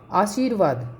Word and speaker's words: आशीर्वाद: क्योंकि ये जो रै का उच्चारण है ये सी के बाद होता है। आशीर्वाद, इस तरह से आशीर्वाद का जो रै है यहाँ वा के ऊपर लगेगा।